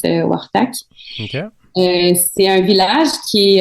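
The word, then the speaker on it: Quaqtaq: Donc ça s'écrit Quaktac mais ça se prononce Wartac.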